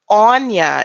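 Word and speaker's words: Áine: goddesses I'm so sorry this Anya is how you pronounce I'm but never Anya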